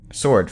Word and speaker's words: sword: yeah I mean like w changes everything usually except for sword for some reason it's I see he